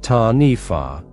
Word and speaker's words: Taniwha: In Maori legend, folklore, there is a creature called the Taniwha, pronounced Ta-Nifa, which guards certain areas in